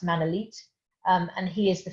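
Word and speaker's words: Manolete: may have come across manila it's actually pronounced man elite um and he is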